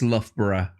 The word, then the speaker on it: Loughborough: it as Loughborough, but it looks like to American they might say Loughborough or something like that. Yeah. But it's not, it's Loughborough.